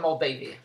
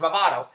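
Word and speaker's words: Movado: I called it a Moldavia I called it a Moldavia because I couldn't pronounce Mado I can pronounce it not to 25 100 people told me it's Mado but I at the time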